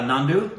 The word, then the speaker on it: Nandu: Is that how you pronounce his name? Yeah, Nandu.